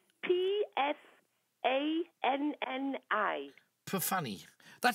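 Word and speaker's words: Pfanni: No, it's spelt P-F. A-N-N-I. Perfanny.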